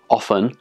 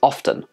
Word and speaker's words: often: yeah it's totally fine this word has two acceptable pronunciations often and often both pronunciations are presented in the cambridge and oxford dictionaries and are widely used by lots of people in native english-speaking countries but why are there